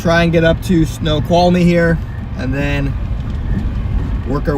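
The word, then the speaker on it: Snoqualmie: How do you say the uh snow quality?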